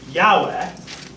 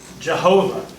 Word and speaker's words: Yahweh: that we now think the best way to pronounce it is Yahweh the the older way to say it was was Jehovah I am Who I